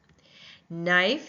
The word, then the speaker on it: knife: Knife, again, the same thing. We hear the N sound but not the C sound.